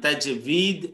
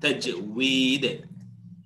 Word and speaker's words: তাজউইদ: তো সুতরাং তাজভিদ বা তাজভিদ অনেকে বলেন বা লিখেছেন অনেক জায়গায়, কিন্তু এটা ঠিক না। তাজউইদ এটা একটা ইউনিক উচ্চারণ।